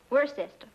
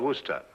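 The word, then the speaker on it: Worcester: But it's spelled W O R C E S T E R. We're sister. Oh, yes, I see. Yes. Lord Worster.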